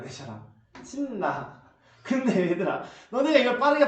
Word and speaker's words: 신라: 이거 그대로신 신라 이렇게 발음 되잖아. 신라. 근데 얘들아, 너네가 이걸 빠르게 바르면 어떻게 돼? 그냥 신라.